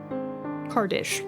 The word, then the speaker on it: Chardish: Chardish.